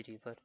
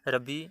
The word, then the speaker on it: रावी: हम बात करेंगे, रावी रिवर। तो ये जो रावी है इसको कहीं कहीं पे रबी और कहीं पे रावी भी प्रोनाउंस किया जाता है, तो इसकी प्रोनाउंसिएशन की आप टेंशन मत लीजिए, सिंपल आपको पॉइंट्स को समझना है।